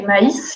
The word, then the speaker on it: maïs: On va aussi distinguer, par exemple, mais et maïs, qui s'écrivent de la même manière, mais ne se prononcent pas de la même manière. Pour distinguer, on va utiliser le tréma pour distinguer le I du A et montrer qu'ils ne se prononcent pas ensemble.